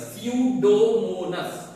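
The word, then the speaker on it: Pseudomonas: ये भी अपने आप नहीं होता, कुछ पर्टिकुलर माइक्रोब हेल्प करता है, जैसे स्यूडोमोनास, नॉट स्यूडोमोनास, सीयू ये प्रोनाउंसिएशन ये वाला ओमिट रहेगा, स्यूडोमोनास एंड थियोबैसिलस, ये दो हमारे डीनाइट्रिफिकेशन माइक्रोब्स है जो डीनाइट्रिफिकेशन करता है।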